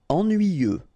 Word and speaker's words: ennuyeux: Ennuyeux. Okay, final X not pronounced. And then ennuyeux. Ennuyeux.